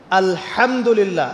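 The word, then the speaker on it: الحمد لله: আলহামদুলিল্লাহ। এই হা এর মাখরাজ কোথায়? হা এর মাখরাজ কোথায় বলেন একজন? কণ্ঠনালীর মাঝখান থেকে।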